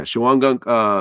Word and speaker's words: Shawangunk: And he ends up getting sentenced in Shawangunk. Yeah. Am I pronouncing it right? Yeah. Yeah, Shawangunk Correctional Facility, where you were sentenced as well.